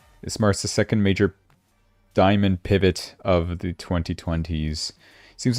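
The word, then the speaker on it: Dimon: Is it Diamond or Demon? I'm going to Google Translate this. Where is my Google Translate? You know what? Brands English. How do you pronounce Diamond? Diamond.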